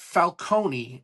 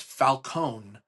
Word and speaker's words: Falcone: And also something that isn't a bad thing, but it bothered me is the name pronunciation. It's not Falcone, it's Falconee.